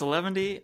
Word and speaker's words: 11ty: that like something with a number yeah it's 11d um it was named many many years ago